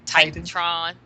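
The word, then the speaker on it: TitanTron: that correctly forgive me titanon TR I can't pronounce that reference Titan Titan Tron there you go Titan Tron okay Titan Tron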